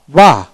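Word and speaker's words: bar: এ হল বিষয় তো নোট হচ্ছে ব্রিটিশ ইংরেজিতে সিলেবলের শেষে আর এর উচ্চারণ হালকা হয়। তবে আমেরিকান আর উচ্চারণ সম্পন্ন হয়। যেমন বার বাহ বাহ এভাবে বার আরটা হালকা হবে।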